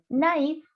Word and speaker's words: naïf: Recuerden que cuando tienen la diéresis hay que pronunciarla la vocal tal cual. Maíz, par exemple. Maíz. Naïf.